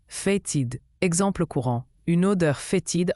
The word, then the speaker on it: fétide: Fétide se prononce fatid.